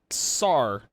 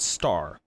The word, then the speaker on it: SAR: i almost read this that that's sar not star almost read that as star am i supposed to